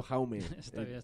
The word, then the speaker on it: Jaume: s caula excelente eh jaume se pronuncia yo lo está diciendo jaume jaume un placer que